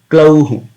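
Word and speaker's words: ग्लौः: And similarly with the glauhu, glow means moon. So here also we have to pronounce how with the dropping effect, but the sound will come out as hu, glauhu.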